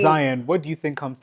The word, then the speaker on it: Zion: But yeah, people would be like trying to figure out how to pronounce it, or they'll be like, oh, Zion, like a lion.